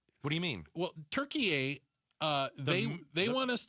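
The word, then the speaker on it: Türkiye: Turkey a. Do you pronounce a turkey? Turkey a like turkey with an a on the end.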